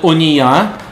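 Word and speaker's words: אוניה: Одно название «Ония». Как пишется «Ония»?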